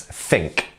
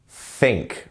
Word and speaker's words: think: So, can you pronounce think? Think. Remember, tongue to the teeth.